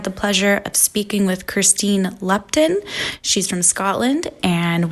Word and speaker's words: Kirsteen: So yeah, I thought maybe Tom would have told you it's Kirsteen. No, I was just guessing. Well, yeah, good guess. You are pronouncing it right.